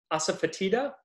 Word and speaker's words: asafoetida: but it's called and i'm gonna butcher the pronunciation asafoetida um and it's uh it came from like